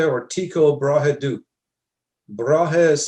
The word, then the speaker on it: Brahe: Tycho Brahe or Tycho Brahe do? Brahe is spelled B-R-A-H-E.